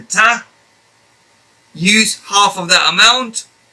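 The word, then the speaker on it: ط: very very close to the articulation point of that but the difference is that to pronounce this letter ta you will have to apply a much firmer touch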